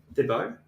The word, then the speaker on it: Thibaut: I have heard of Thibaut. So that's how that's pronounced, Jacob. That's how it's pronounced in Belgium.